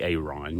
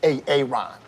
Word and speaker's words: Aaron: You see, Brother Aaron, who I refer to him as AA Ron, you know, because of that TV skit. Time. So why didn't you say it the first time I said Aaron?